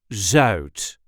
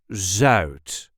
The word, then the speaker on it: zuid: Opposite that is south, which is in Dutch zuid. Zuid. The U sound is a little bit weird. Zuid. Zuid.